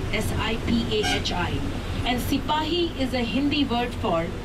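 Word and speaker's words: सिपाही: by the British because they could not pronounce Sipahi as we do in Hindi.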